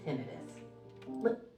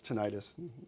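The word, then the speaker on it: tinnitus: mode stimulation to soothe tinidis. That's how you can tell um AI because they don't pronounce things right. Immediately you can tell tenitus. That's it's tenitis.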